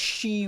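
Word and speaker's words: 四: 44 is a scary number because four in Japanese is pronounced she, which is how you say death.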